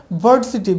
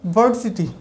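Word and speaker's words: varsity: এরপরে দেখুন ভার্সিটি, আমরা বলি যে ইউনিভার্সিটি, বলি যে তোমার ইউনিভার্সিটি ইউনিভার্সিটি কোথায় আছে। সো এখানে হবে ভার্সিটি, ভি এর উচ্চারণ ব হবে, বার উপরের দাঁত নিচের ঠোঁটের সাথে চেপে বার, আর তার পরে রয়েছে কি আর।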